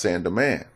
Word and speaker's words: Saint-Domingue: Okay, Saint-Domingue is spelled S-A-I-N-T, Saint. It's called D-O-M-I-N-G-U-E, but it's pronounced Saint-Domingue, and it was a French colony, and led by Toussaint Louverture.